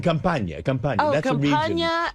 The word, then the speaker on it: Campania: Campania and limoncello. Not in the cabana.